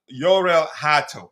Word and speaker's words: Hato: So, I'm going to read the items we have about Joro Herto Yorel Hat. That's the correct way to say his name.